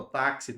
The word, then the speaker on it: táxi: Porque o X aqui, ó, conta como 2 letras, tem som de KS.